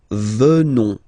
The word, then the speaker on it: venons: O-N-S, classical ending for nous. Okay? Final S not pronounced. So O-N, on, venons, venons. Nous venons.